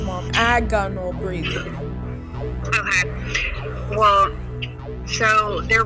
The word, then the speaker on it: agonal: of the problems with breathing it's called Aon agonal breathing that's how it's pronounced mom agonal breathing okay well so there were like real